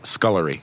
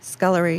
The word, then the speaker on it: scullery: Scullery. Scullery. Yeah, sounds like headgear. It's very English. Sounds like a hat.